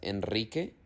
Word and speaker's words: Enrique: La R se pronuncia fuerte o trillada también cuando está detrás de la N, la S o la L, como por ejemplo en las palabras Enrique, Israel y alrededor.